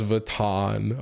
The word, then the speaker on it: Vuitton: I know it's pronounced Vuitton.